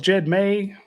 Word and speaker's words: Jed May: I'm with Jed May, who rhymes with hey, I guess there's a